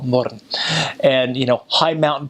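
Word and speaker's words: Mörön: You go in the north, they've got a place called Little Switzerland, called Murren, which is spelled moron, but call it Murren.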